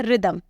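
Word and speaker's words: rhythm: का एग्जांपल देख लीजिए रिदम रिदम बोलते हो आप r के बाद h जो है वह साइलेंट ही तो रहता है इसीलिए मैंने यहां पर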